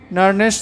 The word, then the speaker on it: Nernst: इसके लिए आपको पढ़ना पड़ेगा एक समीकरण जिसको हम लोग नर्नेस्ट समीकरण कहते हैं। हालांकि इसका प्रोनाउंसिएशन हिंदी में थोड़ा अलग है और इंग्लिश में हम लोग इसको नर्स्ट इक्वेशन पढ़ते हैं।